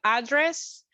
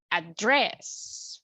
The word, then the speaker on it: address: We have address and address, for example. Okay? Be careful with this rule because, again, the only thing that it makes the difference is just the intonation.